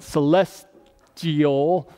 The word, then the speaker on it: celestial: says there are also celestial bodies and I'll ever say that word right celestial I always want to put an r in there bodies and terrestrial but